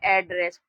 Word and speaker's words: address: जब भी किसी शब्द में डबल अक्षर दे रखा हो तो वहां पर उस शब्द का उच्चारण हम लोग एक ही बार करते हैं। जैसे यहाँ पर लिखा हो ADDRESS, तो यहाँ पर ड दो बार नहीं पढ़ेंगे, इस पूरे शब्द को हम लोग पढ़ेंगे एड्रेस।